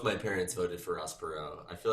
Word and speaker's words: Perot: Ross Perot. Yeah, Perot, like with a silent T. That's like so French.